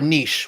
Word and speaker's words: niche: I want you to define the word Niche for me or Niche whatever however you pronounce it nich is the word you're looking for yeah I think it's nich you should look up